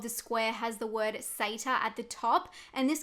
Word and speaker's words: Sator: the majority was interested in sata yes it's pronounced sata like others in the comments section i was